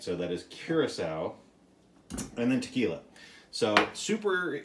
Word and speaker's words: curaçao: uh curacao curacao i i've been informed that i was saying it wrong before i said kirk cow before i've been uh informed that i was saying it wrong so thank you to all you picky nerds out there who told me to say it right so that is curacao